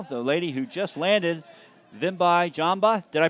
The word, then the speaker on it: Vimbai Jhamba: So, and joining us now, the lady who just landed, Vimbai Jhamba. Did I pronounce that correctly? All right, not Fantastic. bad. Vimbai Jhamba.